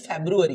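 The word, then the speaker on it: February: वाई जनवरी है ना in same way फरवरी इट इज़ नॉट फरवरी in English in English it इज़ फेब्रुअरी what is the pronunciation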